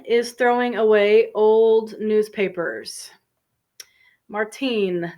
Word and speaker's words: Martine: throwing away old newspapers Martine this is a feminine spelling and pronunciation Martin is the male pronunciation so old newspapers it's